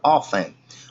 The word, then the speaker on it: often: Próximo, often, apesar dessa letrazinha T, pessoal, a gente não usa o T. Aliás, não pronuncia o T. Fica often.